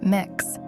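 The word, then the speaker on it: Mx: strictly male or female the title mix pronounced mix offers a gender neutral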